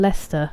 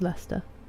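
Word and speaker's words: Leicester: So like worshshire and uh then the city is Worcester and Leester as well. Lots of people say Lester. It's Lester mythology in history.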